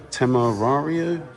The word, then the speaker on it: Temerario: The Huracan replacement, the Temerario, I believe is how it's pronounced.